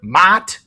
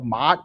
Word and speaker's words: Ma'at: I can't go Ma'at because when you say it, it's like It's almost like when you're yelling mom. Do you guys know what the proper way to say Ma'at? It's like yelling mom.